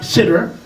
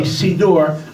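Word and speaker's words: סידור: Beit Ephraim, who can't pronounce the word siddur as a sidur, not siddur, it is a sidur.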